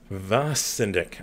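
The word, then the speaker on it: Vacendak: Got Hollywood Punks, Victims, and the Kentucky Rifles, Vesendek. This is like the episode where I'm kind of learning how to pronounce some things here. Vasendek.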